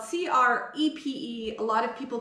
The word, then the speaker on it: crêpe: up like that so crepe is pronounced crep or crap if you